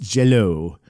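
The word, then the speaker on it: Jellö: that but um but with the accenting it's still pronounced Jello um I oh oh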